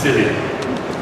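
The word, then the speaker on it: SIYLI: We call it the Search Inside Yourself Leadership Institute, and it's pronounced as silly.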